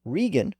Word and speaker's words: Regan: break and stake and Regan reflects a more modern pronunciation with the vow shifted up to position number one as in seat and leaf the pronunciation of those